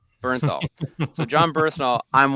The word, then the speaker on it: Bernthal: Michel like I Andy how's it how's it pronounced again John Burnal Bernthal so John ber all